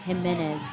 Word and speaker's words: Jimenez: Jimenez. I was putting my syllables in the wrong place.